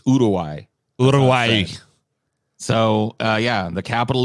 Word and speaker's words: Uruguay: it like this but i was corrected by an uruwaian it's not uruguay it's urawai so uh yeah the